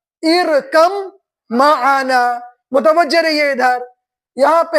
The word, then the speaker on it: ارکب معنا: تو دیکھیے اس طریقے سے قرآن پاک میں لکھا ہوا ارکب معنا، لیکن تلفظ ہوگا ارکم معنا.